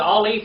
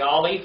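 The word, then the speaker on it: א: So the Aleph is silent, and then we have the Bet.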